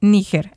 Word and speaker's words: Níger: completamente distinta O sea la pronunciación correcta en español amigo es níger así que lo que